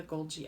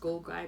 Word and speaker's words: Golgi: used gold guy and even though it's not pronounced gold guy bodies it looks like